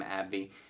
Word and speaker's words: AbbVie: play this is abbvv i pronounce the company's name abby this one is currently